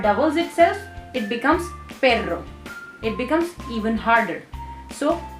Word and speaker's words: perro: You are hitting your tongue onto your palate and it's intermittently hitting it and it's creating a vibration.